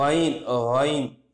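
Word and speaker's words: عين: அடுத்த எழுத்து ஐன் ஐன். கொஞ்சம் நேரம் தண்ணியை வச்சுக்கிட்டு நம்ம கரகரா பண்ணணும்னு வச்சிங்கன்னா ஒரு சவுண்டு வரும் பார்த்தீங்களா, தண்ணீரை வச்சுக்கிட்டு வச்சேன்னு சொன்னால் ஒரு கரகரா வரும், ஐன் ஐன்.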